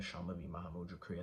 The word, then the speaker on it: Shambhavi Mahamudra Kriya: So I practice the Shambhavi Mahamudra Kriya, Shambhavi Mahamudra Kriya, that's how you say it.